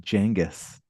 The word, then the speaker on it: Genghis: That I think it's actually pronounced Genghis.